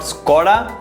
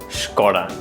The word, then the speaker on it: Skoda: So remember, it's not Skoda, it's Skoda.